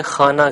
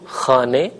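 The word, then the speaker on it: خانه: ہم اردو بولتے ہوئے اسے خانہ کہتے ہیں، یا اگر لفظ نامہ ہو تو اسے خبر نامہ وغیرہ نامہ کہہ کر تلفظ کرتے ہیں، جبکہ فارسی میں زیر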